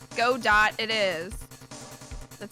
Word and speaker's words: Godot: knows what he means you don't pronounce the T well guess what I'm pronouncing the C godot it is that sounds